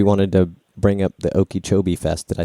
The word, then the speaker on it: Okeechobee: We wanted to bring up the Okeechobee Fest.